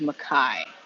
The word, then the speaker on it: Mai: Mai sounds like it is Mai. That's how coach Nick said it.